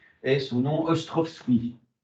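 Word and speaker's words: Ostrowski: D et son nom Ostrovski S c'est un W ça se prononce finalement comme ça ça s'écrit comme ça se prononce mis à part le W et Ostrovski part d'une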